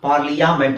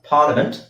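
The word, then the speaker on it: parliament: ಐ ಎ ಇರೋದಕ್ಕೆ ನಾನು ಪಾರ್ಲಿಯಾಮೆಂಟ್ ಅಲ್ಲ ಪಾರ್ಲಿಮೆಂಟ್ ಆರ್ ಪಾರ್ಲಿಮೆಂಟ್ ಓಕೆ ಅರ್ಥ ಆಯ್ತಲ್ಲ ನೆಕ್ಸ್ಟ್ ಇನ್ನು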